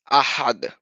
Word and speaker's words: أحد: أحد Ahad.